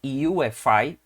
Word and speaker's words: UEFI: Nós vamos entender o que é o que nós chamamos de BIOS, ou mais modernamente, UEFI, escreve UEFI, mas se pronuncia os termos, as letras em inglês, tá bom?